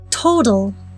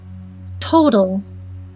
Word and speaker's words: total: at one more word total total in this word the very first letter is letter t since it is the first letter in the word the normal t sound is preserved of course